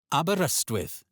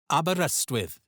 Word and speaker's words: Aberystwyth: Aberystwyth. Aberystwyth. Or you may also hear Aberystwyth.